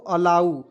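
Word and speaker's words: allow: इसे क्या प दोस्तों अलाउ अ लाऊ ठीक है अंतिम में ओ है दोस्तों उसका उच्चारण जो है उ के रूप में देखिए डबल एल ओ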